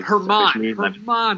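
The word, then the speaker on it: Germán: Dude, Herman Marquez. Not doing it. German Marquez. German. As soon as I say his name, that is his name, and nothing else.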